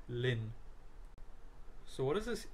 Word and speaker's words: ln: So this term is ln and is pronounced as lin.